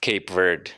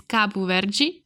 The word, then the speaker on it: Cabo Verde: to call it Kappa Verde Americans call it cape word but the official Portuguese name in pronunciation is Kapoor Virgie and I read an article where the cob